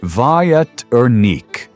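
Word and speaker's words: větrník: If you have a sweet tooth, you should try one of my favorite Czech desserts, Veternik, pronounced something like Vietnik.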